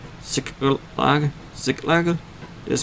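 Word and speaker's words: Ziklag: Sick lag.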